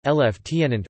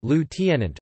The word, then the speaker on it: lieutenant: Lieutenant was historically pronounced as the British, Lieutenant, rather than the American, Lieutenant, although older speakers of